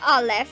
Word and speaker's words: Aleph: Listen to Olive. Technically how your name should be pronounced and spelled.